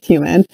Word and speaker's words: Heumann: too it's by judith heumann and her i love that her last name is human I believe it's spelled